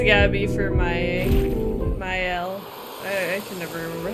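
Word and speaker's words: Maelle: Ma Her name sure it's Myel. It's like closer to Myel. Like not like my but May like the season.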